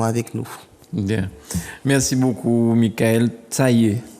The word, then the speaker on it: Mickaelle Tayee: Merci beaucoup, Michael Taillé. Tout à fait. Bien prononcé, c'est ça? Oui, Michael Taillé, oui.